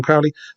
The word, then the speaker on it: Crowley: Six helpfully points out that he knows that you're supposed to pronounce it Crowley rather than Crowley.